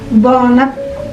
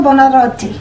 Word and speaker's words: Buonarroti: To pronounce his name in Italian, it is Michelangelo Buonarroti. Michelangelo Buonarroti.